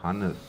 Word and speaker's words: Hannes: And my family name is Hannes, like Johannes Kepler, without the Joe.